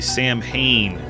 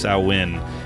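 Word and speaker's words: Samhain: introduce the idea of as they say repeatedly Sam Hayne correctly pronounced sawin in the idea that Michael is associated with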